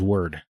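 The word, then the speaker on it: Wyrd: Hellboy web of word I definitely thought it was pronounced of weird this whole time so did I too but everyone of the game says word and I mean phonetically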